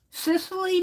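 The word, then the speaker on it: Cicely: to art school here oh really Sicily Mary Barker it's how you pronounce it c-i-c-e-l-y Mary Barker I'll do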